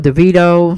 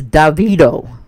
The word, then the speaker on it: Davido: trini t uh she was telling me the pronunciation of uh the correct way of saying uh i've been calling him devito davido it's davido da vie do no i'm sorry davido david